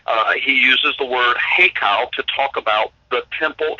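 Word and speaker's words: היכל: it's actually it's an Aramaic word and it's pronounced heo heo and and h y k a l h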